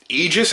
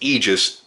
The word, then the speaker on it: Aegis: nothing the website is now live it is Aegis and that is how it's pronounced Aegis but I'll spell it out for you AEG